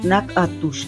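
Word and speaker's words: Natchitoches: Another hidden gem is the city of Nachitois, pronounced Nakatush, the oldest permanent settlement in the entire Louisiana purchase territory, even older than New Orleans.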